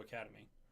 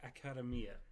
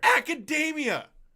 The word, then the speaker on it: Academia: Other than My Hero Academy. Academy? Come on, man. Say it right. You're on an anime podcast. You at least got to put some effort, all right? My Hero Academia. There. Academia!